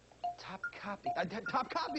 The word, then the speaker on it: Topkapi: Topkapi. That's how you say it.